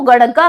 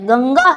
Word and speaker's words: गंगा: जाता है क्या दोस्तों इसको गड़गा कह दोगे आप यह गड़गा नहीं है ये क्या है गंगा है आपकी यानी अंग का उच्चारण आता है न कि अड़ का उच्चारण होता है तो इस बात को